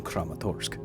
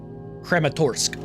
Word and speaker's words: Kramatorsk: This is the true story of the radiological accident in Crematurk. Crerematorsque. Okay, that's how you pronounce it then.